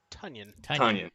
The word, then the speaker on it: Tonyan: Tonyan. Yes, Rhymes with Funyun.